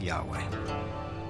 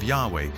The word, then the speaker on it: Yahweh: So his title, in a sense, was God, and his name was these 4 letters, which in English would be YHWH, which we think were probably pronounced something like Yahweh.